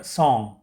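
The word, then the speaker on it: song: उसमें साइलेंट हो जाता एन के बाद जब जी आता है तो वो साइलेंट हो जाता है ठीक है मतलब साइलेंट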